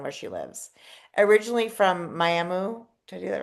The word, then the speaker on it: Miami: I know your hometown is spelled Miami, and I always know it's not Miami. It's not pronounced Miami. That muh at the end. Muh, Muh. Miami. Yeah, that's new for us.